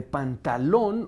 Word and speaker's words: Pantalón: Nos decías, María Pía, que entonces el nombre de Pantalón, originalmente el personaje se llama Pantaleón. Pantaleón, pero pronunciado a la veneciana, Pantaleón. Entonces la E desaparece, usa un vestuario comiquísimo